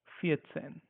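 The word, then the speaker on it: vierzehn: it will be faten make sure we don't read this as V we have to read it like f which is like faten faten f e a set a ha n Fen okay don't call it as ven okay because when you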